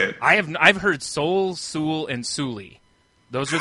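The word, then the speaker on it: Soule: Both have these confusing silent e at the end of our names. Uh that make people uh pronounce them sulie or or brownie.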